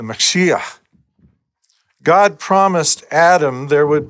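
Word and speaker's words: משיח: An anglicized Hebrew version of the name is Joshua the Messiah, or more phonetically correct, Yeshua the Mashiach.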